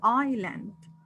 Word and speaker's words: island: The S is silent, so this one is island.